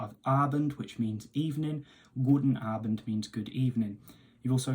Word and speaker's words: Guten Abend: evening, then you have Guten Abend. Now, focus on the emphasis on the strain on that A sound at the start of Abend, which means evening. Guten Abend means good evening.